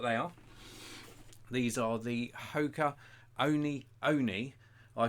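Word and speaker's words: Hoka One One: These are the Hoka Oni. I called it 1-1, but apparently it's pronounced Hoka Oni.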